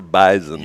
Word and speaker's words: bison: They said the correct way to pronounce bison. It's a Z. Yeah, it's a bison.